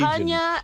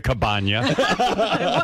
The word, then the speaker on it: Campania: Campania and limoncello. Not in the cabana.